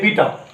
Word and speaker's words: beta: नाम रखा गया बीटा, BETA बीटा, वो तो गया स्पेलिंग बेटा, लेकिन उसको बीटा बोलेंगे।